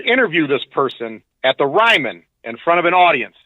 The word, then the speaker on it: Ryman: Or as I used to call it, the ramen. No, it is Ryman.